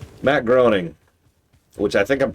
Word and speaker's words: Groening: Yeah, it's like graining. Like there's the vowel changes in the.